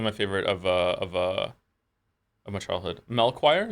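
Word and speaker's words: Melchior: Melchoir is how you say his name. Melchoir.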